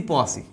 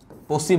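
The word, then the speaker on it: Poaceae: ভাগ আছে মালভেসি পোয়াসি মালভেসি পোসি বা পোয়াসি আমরা উচ্চারণ সুবিধার্থে লেখার সুবিধার্থে আমরা হচ্ছে পোয়াসি বলে বাট পোসি হ্যাঁ তাহলে মালভেসি এবং পোসি বা তুমি পোসি টুসি পড়ার দরকার না তুমি পোয়াসি পড়ো এতে করে তুমি অন্তত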